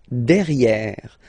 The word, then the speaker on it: derrière: Don't pronounce the final E.